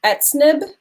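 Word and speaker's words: Etz'nab: is the card that i pulled um it's pronounced at snib and it's the word the usage in the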